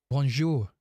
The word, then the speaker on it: Bonjour: Do you pronounce Do you emphasize the R? You don't emphasize the R. It's like mo It's like almost like a silent R, right? Bonjour.